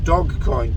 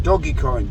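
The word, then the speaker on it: Dogecoin: to be bitcoin ethereum and dog coin doggy coin dodge car whichever pronunciation you want he said those are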